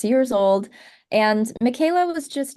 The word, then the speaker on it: Michaela: I was 6 years old, and Michaela was just not doing it for me. A lot of people kept mispronouncing it. I got a lot of Michaels, a lot of Michelas, a lot of Michela,